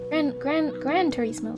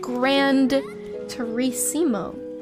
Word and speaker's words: Gran Turismo: It's not even grand with a D. Interesting. Apparently, I never knew how to pronounce or spell that. I've heard it spoken before, but didn't realize it's not Grand Turismo.